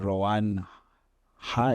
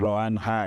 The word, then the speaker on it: Rowan Haai: l and today we have our guest H ran hi is it yes that's correct ran hi is it's important to pronounce that the same correct so ran is